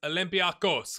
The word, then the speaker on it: Olympiakos: being rotation game against olympiakos because i gotta get a comment said you gotta put the accent on the o at the end not the first olympia hopefully that's right